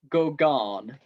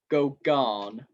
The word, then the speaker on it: Gauguin: I'm going to have to check how to pronounce that because I said it wrong twice and I keep confusing myself. Give me 1 second. I knew I'd said it wrong last time. It was Paul Gauguin. Gauguin, okay?